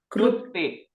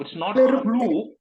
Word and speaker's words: klipte: Klipte. Yeah, it's not flu. It's not flu either. It's klipte.